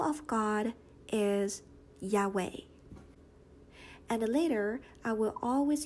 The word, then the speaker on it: Yahweh: study okay so the name of God is Yahweh and later I will always use Adonai to